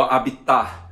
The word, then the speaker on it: habitat: Belezura, ela acabou de aterrissar meu habitat, meu habitat. Me avisaram que não se pronuncia o T final.